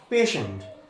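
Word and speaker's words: patient: আবার এখানে দেখো পেশেন্ট, এখানে টি আছে, এই টি এর উচ্চারণ আমরা করছি তালব্য স।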